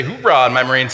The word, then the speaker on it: hoorah: So if you ever heard a Marine barking like a dog, arr, that's actually a word, okay? That's the word hoorah, H-O-O-R-A-H.